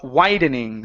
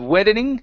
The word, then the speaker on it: widening: is the word uh widening so this is an a sound instead of weding it's I widening n's widening eyes n's